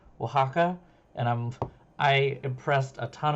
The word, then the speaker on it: Oaxaca: Now, okay, this game here, this moment here, taught me how to say Oaxaca, and I impressed a ton of people. I think I also just butchered it right then and there too, but